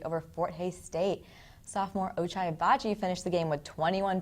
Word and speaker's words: Ochai Agbaji: Is Oshai, I can't pronounce his last name, I'm so sorry. It's like O-O, and there's J in it. Ochai Abaji.